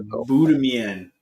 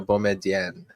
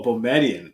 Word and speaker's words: Boumedienne: Sasha Boudemian. Nope, you just butchered that, but that's okay.